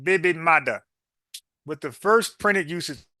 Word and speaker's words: baby mother: done check this out the term originated in Jamaica Jamaica and Creo as baby mother pronounced baby maada with the first printed